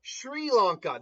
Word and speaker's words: Sri Lanka: It is S as in say, followed by RI as in run. What? And then go away, AI overview. That's stupid. Oh, Sri Lanka.